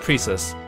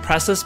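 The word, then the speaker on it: Precis: tinkering Away by herself okay so it is pronounced Prius I thought it was like preus because her name looks like Precious Precious preus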